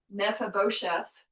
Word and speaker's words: Mephibosheth: So back several chapters ago, David had pity on, Gotta look at his name to say it right. Mephibosheth. to get all the syllables.